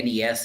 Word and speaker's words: NES: we just agree that it's the nes and snes not that's always been my opinion it's not its own word it needs to sound like an acronym which is why you spell it out exactly yes like kfc